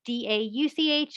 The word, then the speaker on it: Dauch: Is the CH pronounced as a K? For English purposes, technically, but in German, it's more like it's more in the back of your throat. So Dach, Dauch, Dach.